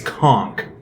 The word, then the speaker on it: conch: It's not conch obviously it's conchk cuz there that's that's one of the ways you can pronounce conch.